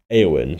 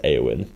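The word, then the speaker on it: Éowyn: red warnings for wind aowin pronounce aowin the red warnings for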